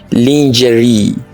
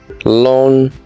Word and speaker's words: lingerie: Do you say lingerie? It's wrong. The pronunciation is lingerie.